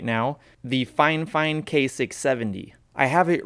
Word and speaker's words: Fifine: really get into it is that i am pronouncing it fine fine because i know it's spelled fi fine but